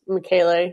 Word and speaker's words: Michele: Yeah, we learned from April that the proper pronunciation is Michele. We called it Michelle for a long time, too. I thought it was, but